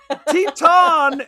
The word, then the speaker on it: Teton: It's Teton is spelled like Titan with an E on the end.